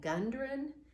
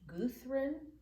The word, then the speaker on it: Gudrun: Gudrun, it looks like Gundren, but it's pronounced Gudrun, and that's a woman's name.